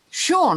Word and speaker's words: Sean: nobody else is talking sean that's how we pronounce it is that what you say it is yes that's how i spell